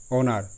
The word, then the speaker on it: honour: HONOUR অনার, এখানে এইচ কেন silent?